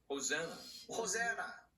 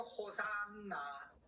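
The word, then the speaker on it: hosanna: 외치기를 호세나 호세나 하고 외쳤습니다. 우리는 보통 이거 호산나 호산나 그러면서 이제 춤추서 노래하잖아.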